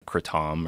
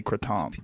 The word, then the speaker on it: kratom: You're the only one I've heard say Kratom. It's a Thai word. People in Thailand call it Kratom.